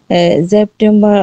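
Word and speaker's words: September: কালকে যে আপনাদেরকে শিখাইছিলাম, এ এয়া যদি থাকে সেটা হচ্ছে সরাসরি উচ্চারিত হয় আয়ের মতো। ঠিক আছে? আ হবে, তাই সেপ্টেম্বা।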